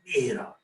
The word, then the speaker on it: Miro: I told you Miro is a Spanish word, so you've got to pronounce it with passion, Miro.